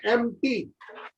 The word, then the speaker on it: empty: कई बार कुछ alphabet silent होते हैं, EMPTY लिखा जाता है एम्प्टी, और पढ़ते हैं एम्प्टी।